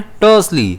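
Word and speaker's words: tersely: इसे हम प्रोनाउंस कैसे करते हैं? टर्सली। इसमें स्ट्रेस जो है वो टी पे रहता है।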